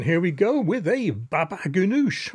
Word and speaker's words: baba ganoush: we go with a baba ganoush or as I often mispronounce it Baba goonash all of these dishes